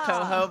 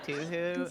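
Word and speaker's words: Touhou: It's pronounced Tohjo, but I like saying Toohoo.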